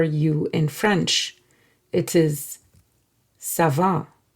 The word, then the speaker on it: ça va: And whenever you see this C with this tail, you would pronounce it as S.